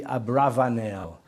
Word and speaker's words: Abravanel: but scholars have suggested it should really be Abravanel which is possibly more accurate from the Spanish